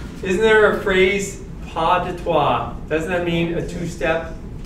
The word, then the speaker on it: Pas de trois: Isn't there a phrase, pas de trois? Doesn't that mean a two-step? No? Okay, so I'm completely mispronouncing.